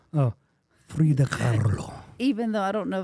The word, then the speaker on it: Kahlo: You have to put that Mexican accent, Kahlo. Oh, Frida Kahlo.